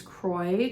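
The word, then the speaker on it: Kroy: I ended up ordering two balls of patents Croy to make socks for Troy it Rhymes Croy for Troy um and this color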